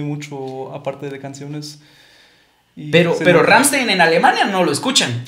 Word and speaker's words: Rammstein: ¿Vos y cómo se pronuncia Rammstein, ¿no? Rammstein.